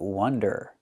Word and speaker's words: wonder: No wonder or no wander? They're different. Not wander, but wonder.